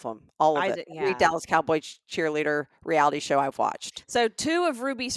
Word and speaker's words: Dallas Cowboys: Okay, you're still not pronouncing it right. There's an S. Dallas Cowboys cheerleader. There's more than one cowboy.